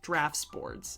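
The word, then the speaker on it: draughtsboards: But you're right, drafts boards is technically how it's supposed to be pronounced which is ridiculous and how English is crazy.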